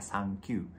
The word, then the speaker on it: Sankyu: Oke, dan habis video ini jangan lupa nonton video lirik single terbaru dari aku berjudul 39, bacanya Sankyu. 3 dalam bahasa Jepangnya san, 9 dalam bahasa Jepang bacanya Q.